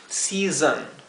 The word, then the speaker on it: season: primera Digamos si verdad Con la s suave si y la segunda zon aquí el sonido de la s zumbada lo he diferenciado con como con una Z y una h y la o se pronunciaría con un sonido intermedio entre lo que sería una o y una e season season traten de